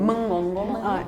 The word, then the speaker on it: mengonggong: In Indonesia, we pronounce it mengonggong.